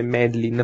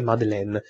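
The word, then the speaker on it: Madeline: effettivamente come si pronunciasse mi è stato comunicato che data più gente che la pronuncia corretta e madeleine però la figlia di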